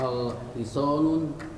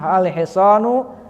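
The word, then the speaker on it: الحصانُ: Al-hisonun tawilun. Ingat, kemasukan lam tidak boleh tanwin. Al Betul tadi al-hiso. Oh ya, al-hisonu tawilun. Al-hisanu tawilun. Ingat ya, kalau kemasukan lam tidak boleh tanwin dibacanya.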